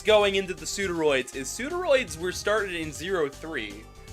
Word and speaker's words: Pseudoroid: serpents uh well one it's pronounced pseuderoid and I assume I'm